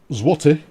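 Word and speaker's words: złoty: the uh it's pronounced what zloty is pronounced as woof zwarty all right okay yeah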